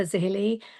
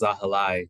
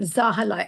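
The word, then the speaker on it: Zahilay: And I'm going to put it to Councilmember Zahili first to answer that. Thank you, Rita. And it's pronounced Zahalai, in case I that's beg your helpful. pardon, Zahalai.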